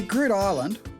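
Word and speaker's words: Groote Eylandt: has become a reality so grid island or eland as you saw it's spelt is actually dutch for big island it's something like 60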